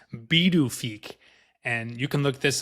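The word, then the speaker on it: Pituffik: So it was renamed to, I'm going to say it how it's spelled, Pidufik, but it's pronounced Bidufik.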